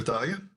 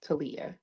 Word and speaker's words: Talia: Any questions for Thalia? Okay. No questions. I did want to clarify, it's pronounced Talia. Yes, it is pronounced Talia.